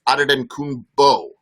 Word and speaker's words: Antetokounmpo: So the NBA's pronunciation is Giannis Antetokounmpo, B-O. But you're right. So there is a difference of opinion depending on if you want to talk about its African heritage or his Greek heritage.